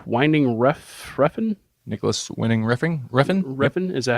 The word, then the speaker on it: Refn: Refn, is that how you say it?